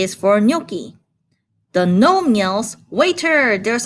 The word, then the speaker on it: gnocchi: But in gnocchi, the G at the front is silent, so we don't pronounce it.